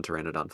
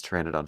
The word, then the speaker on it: Pteranodon: on like I mean I'm already like struggling with the silent P English is a dumb